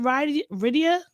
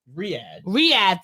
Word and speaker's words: Riyadh: All right, so next, remember last week when we were talking about how do you pronounce it? Is it RIAA? Riyadh, thank you.